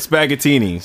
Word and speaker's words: Spaghettini's: It's spelled like spaghetti. Yeah. But Spaghettini's.